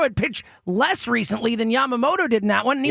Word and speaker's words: Yamamoto: Yamamoto.